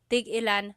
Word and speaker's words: tigilan: Tig-ilan is a homonym, meaning it can have different translations depending on how it's pronounced. So tig-ilan, when there's a hyphen in it, you have to have that glottal stop. Tig-ilan. That means how many of each. When there's no hyphen, tigilan, tigilan.